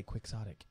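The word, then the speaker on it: quixotic: don't we say ktic ktic ktic we say quick sotic quick sotic chasing after windmills basically so that's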